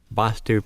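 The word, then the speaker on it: Vaastu: Vastu pronounced with a A is pronounced quickly and spelled V with one A, S-T-U, and Vastu pronounced with the longer time held for the A and spelled V-A-A-S-T-U.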